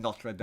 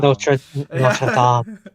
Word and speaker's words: Notre Dame: there's an outtake of me doing that video where I'm like the Hunchback of Notre Dame, and I'm like I heard myself say it, and I was like, oh, that's wrong. That's wrong, and this is the internet. I can't, and then I refilmed it when I said Notre Dame. Notre Dame.